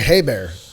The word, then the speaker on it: Ebare: It's like hay bear. It's like hay bear for us.